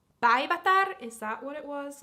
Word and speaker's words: Päivätär: So I'll teach you how to say Päivätär, that name. Päivätär, so it's päivä, so like day. Päivä means day. So that's how you pronounce it.